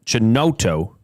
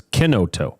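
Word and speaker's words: Chinotto: looked at the label, I would have said Brio Chenoto, but it's Kenoto. That's right. But it's spelled C H I N O T T O. C in Italian is a K.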